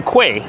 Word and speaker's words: quay: It's spelled Q-U-A-Y, but it's pronounced like key. So The spelling is a bit different than the sound. It sounds like key, but you spell it like quay.